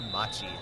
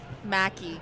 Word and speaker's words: Mackey: Back to serve, Gianna Machi or Maki. Mackie. Mackie. It's like a CK.